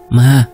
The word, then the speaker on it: Mah: Bacaan bukan mama atau mamah, tapi dibacanya lebih mirip seperti emak. Mah, begitu.